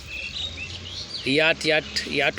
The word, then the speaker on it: yacht: शूरवीरता, याट होता है, इसमें CH जो है साइलेंट हो जाता है, YAT, याट, इसी का उच्चारण होता है, जबकि बीच में क्या होता है?